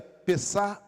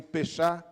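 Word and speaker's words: Pesach: Ao olharmos para a Páscoa, a palavra se pronuncia pessar. ou pechá, indicando a passagem da escravidão para liberdade.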